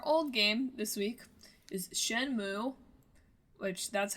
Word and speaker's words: Shenmue: yeah so our old game this week is shenmo which that's how you pronounce it we looked it up y there's